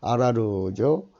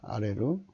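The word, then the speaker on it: ארור: 저주는 어제 아라루죠. 발음은 아레루입니다. 아레루. 여기 이제 제가 이게 한국말 썼기 때문인데 이건 한국 어문이고요. 아라루는 음력이고 발음은 아레루입니다. 그러니까 이게 저주는 하층면 된다는 얘기예요.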